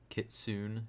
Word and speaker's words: kitsune: cool summer drift is still here dual edged kitsune that's how you pronounce it I feel like this is the